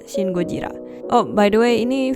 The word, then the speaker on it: シン・ゴジラ: Bukan Godzilla yang film Amerika punya, tapi film Jepang dan bacanya Shin Gojira.